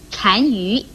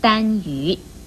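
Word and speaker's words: 单于: 您的是，丹这个字一共有丹、善、禅三种读音，像善父不可以念成丹父，禅鱼也不可以念成丹鱼。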